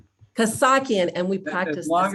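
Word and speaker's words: Kassakhian: three panelists from local government we have did i pronounce that right close enough i didn't say the correct pronunciation of your last name kosaki and we practice as long as you don't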